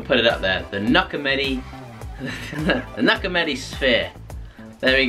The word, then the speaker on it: Knuckameti: Knuckameti? Knuckles Knuckameti. Knuckameti. Knuckameti. The Knuckameti. The Knuckameti. Yeah, that's quite good, yeah. So, the Knuckameti, I don't know how I'm going to spell that. The K is silent.